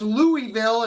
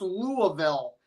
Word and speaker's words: Louisville: And then someone said, it's not pronounced Louisville, it's pronounced Louisville.